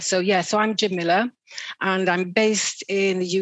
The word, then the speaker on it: Jamila: in your name jamila do you do you pronounce it jimila is that right yeah jamilah some people say jamilia but it's jim miller it means beautiful it means beautiful in arabic